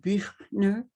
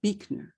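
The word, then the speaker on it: Buechner: and finally from frederick probably originally pronounced birdner b-u-e-c-a but become but has become anglicized to beakner compassion is sometimes the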